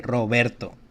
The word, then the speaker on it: Roberto: can see that uh we have a heart sounding Out r at the beginning Ro like Robert say Roberto hold on one second here